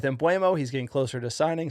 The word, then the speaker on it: Mbeumo: We've researched how to pronounce his name. That is basically out of his mouth, like you know how he says it. Embumo. Uh, I've been going with Emuo.